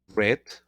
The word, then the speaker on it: read: Y bueno, un verbo irregular también se llama leer, read, reads, lee, read, se pronuncia como el color, read, leído, perdón, leyó, lo